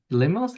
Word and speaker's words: LIMOS: So, uh, we're really excited to have, uh, Sophie Hubertz today, uh, from CNRS and Limos, is that how you pronounce it?